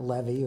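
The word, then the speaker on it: Lewy: l e w y which would have been pronounced Levy in German and it's crossed out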